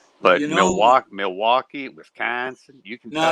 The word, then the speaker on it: Milwaukee: people from up here go Milwaukee, like a ma, like a not mill.